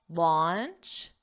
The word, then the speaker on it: launch: Don't confuse the pronunciation with lunch, your meal of the day. Lunch. Your mouth does not open very wide. Lunch. Launch, which is to officially